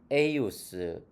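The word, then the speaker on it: eius: at in 예숨 크리스툼 필리움 에이우스 우니쿰 도미눔 노스트룸. 네. 이게 이제 J가 이 발음 나니까 제숨이 아니고 예숨이죠. 그 다음에 여기 에주스가 아니고 에이우스, 에이우스죠.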